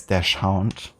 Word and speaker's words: dachshund: It's like a dachshund, like a hot dog meets a pharaoh or something. A very long dachshund. Or some people might know it as dash hound, which I guess is the American pronunciation.